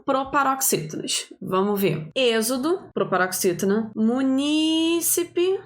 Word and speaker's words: munícipe: vamos ver Êxodo proparoxítona munícipe proparoxítona é o jeito certo de falar então letra beleza vamos